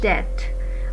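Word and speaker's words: debt: इसमें B silent है, जबकि हम जब इसे बोलते हैं तो बी को भी स्ट्रेस करने की कोशिश करते हैं। सो the correct pronunciation is डेट।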